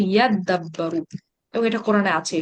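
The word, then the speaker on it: يَدَّبَّرُوا: তো এই তা আর দালকে হচ্ছে তারা একসাথে যুক্ত করে বলবে হচ্ছে ইয়াদাব্বারু, এবং এটা কোরআনে আছে এই শব্দটা ইয়াদাব্বারু, ইয়াদাব্বারু।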